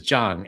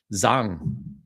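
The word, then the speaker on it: Zhang: Uh, so had a had a teacher whose name was Jang and there was a lot of Taiwanese there and they're they use the southern pronunciation so they call him Zang.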